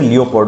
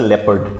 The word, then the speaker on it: leopard: this St is a leopard okay don't say leopard okay it's a leopard the correct pronunciation is leopard so tomorrow is my alternative English exam thank